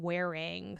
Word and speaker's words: Whering: I have my wardrobe in this app called Wearing, spelled with an H, Whering.